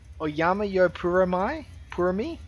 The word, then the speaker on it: OjyaMajyoPuremi: We'll jump up here, and I apologize for this, but we've got OjyaMajyoPuremi, I believe, is how we're going to pronounce it.